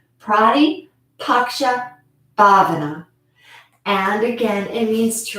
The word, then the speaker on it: Pratipaksha Bhavana: a good visual so you can um see it's spelled exactly how it sounds prati paksha bhavana and again it means to replace a negative